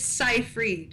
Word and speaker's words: Seifried: I don't want to mess it up it's Seyfried Seyfried okay and it's just amazing to me